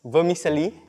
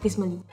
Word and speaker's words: vermicelli: The way Faris pronounce vermicelli, kinda triggering. Wait, how did I pronounce it? Vismali.